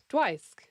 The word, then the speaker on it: Dwisk: I usually pronounce myself as adjacent to the name Dwight. Ooh. But with sk at the end instead. Dwisk.